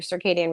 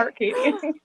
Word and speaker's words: circadian: that means, working your circadian rhythms. Some Yeah, say so circadian. Is that the proper way to say it? Carcadian. Carcadium. Some people say that. Is it circadium? Circadian, yeah.